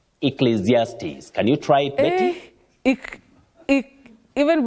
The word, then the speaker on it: Ecclesiastes: words that can be difficult for anyone to pronounce but this one you say then zes Ecclesiastes Ecclesiastes can you try it even B is here